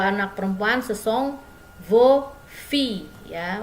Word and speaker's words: filles: Kalau anak perempuan ce sont vos filles ya. Walaupun dia jamak, S-nya tidak dibaca ya. Vos filles.